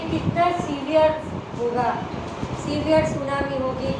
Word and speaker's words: tsunami: सुनामी में T silent होता है, हम टी सुनामी नहीं बोलते हैं, टी इज a silent here.